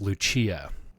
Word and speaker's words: Lucia: It's neither of those. It's Lucia. Shut up.